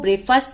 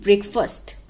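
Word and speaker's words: breakfast: ब्रेकफास्ट को ब्रेकफास्ट नहीं, ब्रेकफास्ट।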